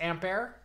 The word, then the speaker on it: Ampere: rag on you here it's not pronounced amp here it's pronounced ampair well whatever until Nvidia